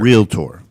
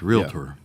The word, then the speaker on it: realtor: it's jewelry yeah anyway february real tour yeah not really tour right all right yeah so that's correct realtor so here's here's how